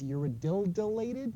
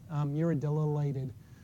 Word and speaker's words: uridylated: So high levels of glutamine, this P2 protein is going to be I can never pronounce this word, but I think it's uridylated. There's two YLs in there.